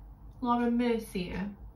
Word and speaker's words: Laura Mercier: Laura Mercier.